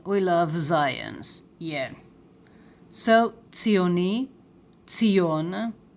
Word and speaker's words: ציוני: Zionist in Hebrew is, for a man, ציוני, ציוני, ציוני, ציוני, the sound of TsadI, tss. And for a woman, ציונית, ציונית, ציונית. The dot here, right? This is the gesh. It closes the syllable.